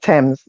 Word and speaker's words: Thames: river of London but it's actually pronounced Thames the River Thames yeah yeah but you